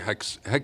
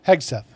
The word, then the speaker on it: Hegseth: Hex. How do you say his name? Hegseth.